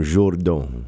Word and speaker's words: Jourdan: Tout le monde croit que c'est Jordan, J-O-R, mais c'est écrit comme Jourdan.